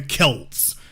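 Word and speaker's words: Celts: says Celtic but it's actually they are the Kelts go take a look at any documentary about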